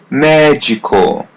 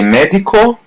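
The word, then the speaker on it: médico: Magical. Magical. Repeat part after part. Magco. Magco. Magical. Magical. As you see, letters D I are pronounced as G. Magical. So don't say medical, say magical.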